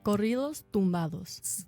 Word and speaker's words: Corridos Tumbados: Corridos Tumbados.